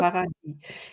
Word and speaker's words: Paradis: Paradis, Yep. Paradis." Yes, and I love that name so much, so I can pronounce it the whole day long.